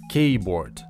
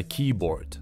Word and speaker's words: keyboard: Очень многие произносят его как keyboard вместо keyboard. Возможно, вы быстрее запомните правильное произношение, если разделите это слово на два.